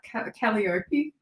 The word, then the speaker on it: Calliope: Calliope. Is that how you say it? Calliope?